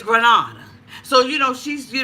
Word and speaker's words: Grenada: Grenada and you know the cohorts of Grenada had me thinking that I was pronouncing the damn thing wrong it's Grenada so you know she's